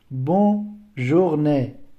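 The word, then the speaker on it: bonjour: هلته ګوره بون مونږ یوازې بون ویلی او دلته بون ویلی کېږي ځکه ان تلفظ کېږي. ولې چې دلته او ان شته دی، ولې د ان دوه ان لري، دلته دوه انونه وروسته یوه او دی، دلته اوس ان تلفظ کېږي. دلته هغه مخکینی قانون چې کله او ان به راغلو اون تلفظ کېږي، دلته اوس هغه ډول نه تلفظ کېږي.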